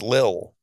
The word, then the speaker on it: Lil Wayne: It's not little, not like Richard. I'm unable to locate such a word in the English dictionary. It's Lil, apostrophe.